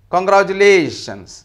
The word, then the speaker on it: congratulations: Congratulations. Here you have lations. There only you have primary stress.